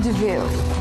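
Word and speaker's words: De Vil: and Jasper she's really Cruella pretty well in DeVille he spelled devil but it's pronounced DeVille Harris for clarifying we appreciate that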